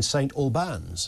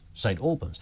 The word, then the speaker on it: St Albans: there's a problem in St Albans and I thought St Albans that's a bit weird it's not one of those names that you can pronounce wrong because everyone knows St Alburn and I thought ah